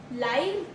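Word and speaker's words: live: small apartment down town लिव एल आई वी लिव pronounce as गिव ही लिव्स the person लिव्स इन a small apartment down town लिव pronunciation two इज़ एल वाई री ओह माय गॉड लाइफ एज़ फाइव लाइव फाइव लाइव फाइव इट कैन बी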